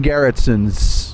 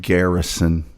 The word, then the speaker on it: Garrison: Well, there I mean the whole whole movie is based on uh Jim Garrettson's sort of investigation. And Jim Garrett pronounced it wrong. It's Jim Garrison.